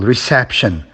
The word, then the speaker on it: reception: And reception, the second syllable, reception.